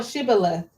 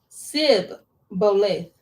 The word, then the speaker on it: Shibboleth: Say now, Shibboleth. And he said, Oh, Sibboleth. For he could not frame to pronounce it right.